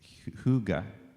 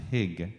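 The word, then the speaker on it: hygge: Uh there's a there's a Danish word called Huga or sometimes pronounced hig, right?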